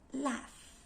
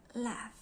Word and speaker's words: laugh: In addition, there are also some words that are not written in F, but it pronounces as it sounds. For example, laugh, tertawa, laugh. It has no F in it, but we produce the word laugh with labiodental as laugh.